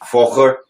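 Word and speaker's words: Völkers: Did I pronounce that right? I think it's an F. Volker.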